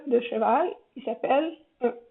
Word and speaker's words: cheval: Le E caduc, c'est le E qu'on n'est pas obligé de toujours prononcer. Il y en a plein comme ça en français. D'ailleurs, je suis certaine que tout le monde ici, avec tous les francophones à qui je parle actuellement, ne prononce pas le E de cheval quand ils parlent dans leur vie quotidienne.